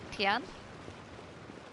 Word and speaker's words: Tian: Though it should be something I should remember, because my nan had a dog called Tia. And it's spelt that way as well, and then you just add an N on it, Tian.